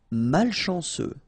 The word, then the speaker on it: malchanceux: Malchanceux, final X not pronounced, C-E-U, ce, malchanceux, malchanceux.